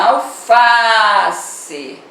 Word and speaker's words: alface: Na palavrinha alface, onde você demora mais, é no Fá, é a penúltima, você vai classificar como paroxítona.